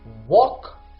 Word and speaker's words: walk: start the next word which is walk or walk so what is the silent letter in this word now the silent letter is L if you did it